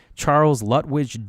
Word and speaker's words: Lutwidge: So Lewis Carroll was born Charles Lutwidge Dodgson. I don't know how that's actually pronounced. Ludwig? Nope, Dodgson. But you said Ludwig. No, it's Charles Lutwidge. His middle name was Lutwidge.